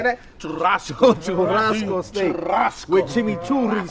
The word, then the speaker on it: Churrasco: Churrasco.